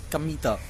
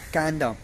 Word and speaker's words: Kamita: and field gods feel but it isn't pronounced canada as you might expect it's pronounced kamita thus kino first learned